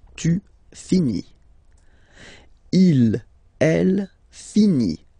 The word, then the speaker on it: finit: Il, elle finit. So I-T, final T, not pronounced.